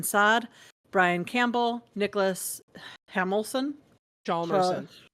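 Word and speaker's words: Hjalmarsson: Jalmerson. Jarmelson. There's an H in there. Yeah, it's not. It's silent. Jalmerson.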